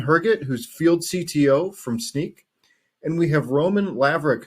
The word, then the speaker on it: Snyk: I'm the field CTO at Snyk, which, as I'm sure you know by now, stands for So Now You Know, and it's pronounced like a pair of sneakers or sneaking around.